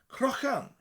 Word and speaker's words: crochan: Cro. A sound in the back of your throat. Croch-an. Croch-an. Crochan. Crochan. Now if you can't say the sound, a light K sound would be okay for now.